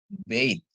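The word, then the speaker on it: בַּיִת: Bet, B dengan akhiran tab, dia jadi bacanya bait ya. B dengan akhiran tab, dia bacanya bait ya.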